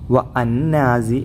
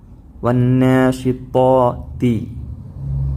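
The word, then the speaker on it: وَالنَّاشِطَاتِ: വന്നാസി എന്ന് തന്നെ ഉച്ചരിക്കേണ്ടത് ഒരിക്കലും വഅന്നാസി എന്ന് ഉച്ചരിക്കരുത് വന്നാ വാവ് കഴിഞ്ഞ് നേരെ ഇതാണ് ഉച്ചരിക്കേണ്ടത് വന്ന നൂന് വന്നാ വന്നാ പിന്നെ ഇവിടെ ത്വാ എന്നാണ് ത്വയ്യാറത്തുൻ എന്ന് ഒന്നാം ക്ലാസിലെ പാഠത്തിലൂടെ പഠിച്ചിട്ടുണ്ട് ത്വാ വന്നാശിത്തി ഇവിടെ ഉച്ചാരണം രണ്ടും വ്യത്യാസമുണ്ട്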